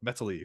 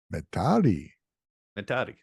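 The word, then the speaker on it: Metali: Number 4, going down 2 spots is Baby Metal with Metally featuring Tom Morello. Metari. He pronounces it a few times in the song.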